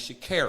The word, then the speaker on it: Sha'Carri: Yeah, she said, my name is Sha'carri. Sha'carri. Oh, that's right. And I said, right. okay, so Sha'carri Richardson, all right, you know what I'm saying?